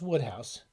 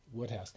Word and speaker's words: Wodehouse: going to pg woodhouse i think it's pronounced woodhouse if i'm wrong please don't tell me but i'm pretty sure it's pronounced it's pronounced different than the way it looks it's pronounced woodhouse and uh he is